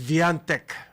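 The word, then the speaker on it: Świątek: si siviant ah well yung polish pronunciation ng kanyang pangalantech is Viante ano yan ang ano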